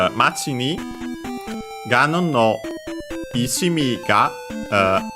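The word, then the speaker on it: 町: And by the way, in this case, we actually would hear the accent, it being accented on the last syllable because we had the particle ni. So, Machi ni. So, low, high, low.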